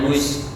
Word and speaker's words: whose: Nah, membacanya whose without W.